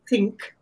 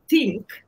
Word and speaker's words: ThinQ: the banner of think spelled t h i n q but pronounced think um not think you now in think the th stands for